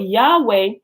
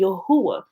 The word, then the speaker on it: Yahweh: I said, but Yahweh is a mistransliteration and a mispronunciation of the actual name, which is actually Yahuah.